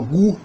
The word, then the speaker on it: ku: E o prefixo ku, pronunciado gu, no Zulu moderno, que indica se objeto da segunda pessoa.